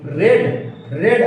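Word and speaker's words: read: दूसरा मैं बोलूंगा आई रेड a book, I रेड a book, ठीक है? क्योंकि इसकी स्पेलिंग सेम रहती है। ये हो जाता है रीड, उसके बाद होता है रेड, ठीक ना? प्रोनाउंसिएशन बदल जाता है।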